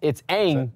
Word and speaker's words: Aang: Like, it's Aang. It's like literally said Aang in the TV show for forever, and then he's like, Aang, and asked why he said it was more, like, culturally correct.